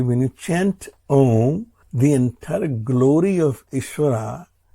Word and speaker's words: Om: As we had discussed many times before, Om is the primordial sound. It's made up of 3 primordial sounds, A, O and Ma.